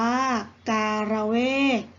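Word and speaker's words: การเวก: น้ำ มัน หอม อากา ร เวทย์ อ่าน ว่า การเวช หมาย ถึง ไม้ เถา เนื้อ แข็ง ดอก หอม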